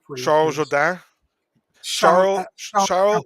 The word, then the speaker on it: Jourdain: Can you pronounce it correctly, please? Charles Jourdain. Charles Jourdain.